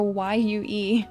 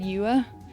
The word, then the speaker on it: Yue: So Y-U-E. He said Yuwa. It's Yue.